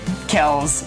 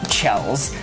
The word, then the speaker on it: Kells: But yes, sorry, Kells. I know now it is pronounced that and not Chells.